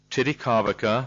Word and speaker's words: Titikaveka: John Whitman Ray, Post Office Box 1046, Titicaca, that's spelled Titikaveka, in Rarotonga, Cook Islands.